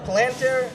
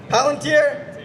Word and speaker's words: Palantir: Alex Karp, CEO of Palantir, am I pronouncing that right? Palantir?